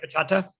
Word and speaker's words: bachata: So I'm probably going to mispronounce this, and I'm really sorry, but how long have you been doing bachata dancing? You pronounced it right, bachata.